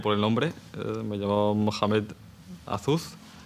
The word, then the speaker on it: Mohamed: Me llamo Mohamed Azuz. Aunque mal pronunciado Mohamed, sería Mohamed. Si vamos a pronunciar en árabe, sería Mohamed Azuz.